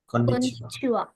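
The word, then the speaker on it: こんにちは: It is the kana ha, isn't it? But you pronounce it as wa. I'll talk to you more about this in our first lesson, which is on Wednesday. Okay? Just remember, in these two greetings, the final ha kana is actually pronounced wa.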